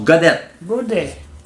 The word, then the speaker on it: Gaudet: avec des handicaps majeurs Alain godette.ca comme godet mais que ça se prononce godette il y a un